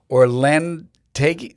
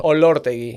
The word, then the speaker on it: Orlotegui: I have been with Omar Orlortegui. Oh man, I got it wrong. I'm butchering it. Yeah. Orlotegui. Orlotegui. Orlotegui. Yeah. We're going to spell it over here. Yeah, it's Orlotegui.